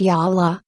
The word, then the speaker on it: Jolla: on a new smartphone platform the hoop phone pronounced yaha is powered by open-source operating system sale fish